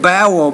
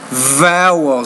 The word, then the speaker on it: vowel: vote wrong you said bowel but it's vowel so when you pronounce the V you you need to make sure you pronounce it like a V not like a b because those kinds of